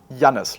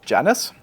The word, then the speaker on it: Janis: into into the assistant the assistant would usually pronounce it Janice and Janice as you can imagine is often being interpreted as jice which looks like this which obviously is not my name but it sounds very